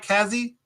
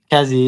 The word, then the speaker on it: Kazzi: not the Kazzi. How do you say it? How do you I say it right? Kazzi? Kazzy, yeah, Kazzy.